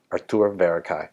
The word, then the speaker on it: Arthur Verocai: Artur Verocai.